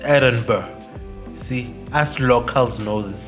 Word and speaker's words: Edinburgh: Also, interesting thing, when you spell Edinburgh, there's a G at the end, GH, but the GH is silent, so you're not supposed to pronounce it or have it when you say the word. So it's a silent G, so it's Edinburgh.